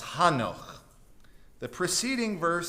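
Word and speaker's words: חנוך: In Hebrew, this is pronounced Hanoch.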